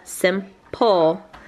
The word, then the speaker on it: simple: You're right, and so that second syllable, simple, pole, needed a silent E.